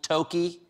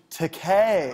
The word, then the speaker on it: Takei: 420, aren't you going to celebrate with a little toki? I think you're pronouncing it wrong, Stephen. But yeah, I am going to celebrate the 79th birthday of Star Trek's George Takei.